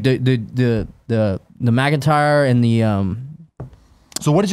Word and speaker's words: McIntyre: McIntyre, that's how you say his name, right? Yeah, McIntyre.